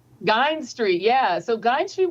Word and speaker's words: Guynes: Tell us about the house on, is it Guynes Street? Is that how it's pronounced? Guynes Street, yeah.